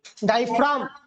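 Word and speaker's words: diaphragm: डायफ्राम, जी is silent.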